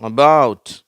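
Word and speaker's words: about: இதுல பாத்தீங்கன்னா அபவுட்ல வந்து ரெண்டாவது சிலபல்ல ஸ்ட்ரெஸ் இருக்குது. மற்ற இதுக்கு முன்னாடி உள்ளதுல எல்லாம்ஃர்ஸ்ட் சிலபல்ல ஸ்ட்ரெஸ் இருந்துச்சு ஆரம்பத்திலே இப்ப வந்து இதுல வந்து பாக்கு பிறகுதான் ஒரு அழுத்தம் கொடுக்கிறோம் அபௌுட் அபௌுட் அப்படின்னு சொல்றதுனால இங்க அந்த ஒரு ஸ்ட்ரெஸ்.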